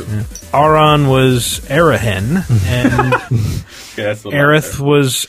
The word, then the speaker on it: Aerith: And Aerith was Earth.